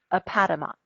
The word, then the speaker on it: Appomattox: Grant in the little Virginia town of Appomattox.